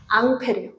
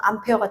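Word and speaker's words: Ampère: 보여 드렸죠 그래서 오른손 법칙이라고도 합니다 누가 만들었냐 앙페르 앙페르 뭐냐면요 절 의 단위가 뭐예요 페어라고 있죠 얘가 앙요 이거를 영어식으로 발음하면 암페어가 되는 거고 이제 프랑스 사람일 거예요 페르가 이렇게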